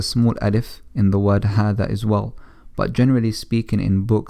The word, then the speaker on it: هذا: Now even though it's spelled as ha dhal alif, it's pronounced as if there is an alif after the letter ha. So we say هذا, هذا, and we don't say هذا, shortening the ha.